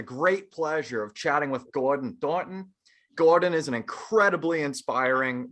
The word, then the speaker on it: Gordon Thornton: me it's pleasure pleasure i love how you say my name too it's a good one gordon thornton i like that stronger you're gonna have the emphasis man you know yeah